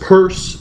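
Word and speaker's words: Peirce: a thinker called CS p e i r c e pronounced purse an early um 20th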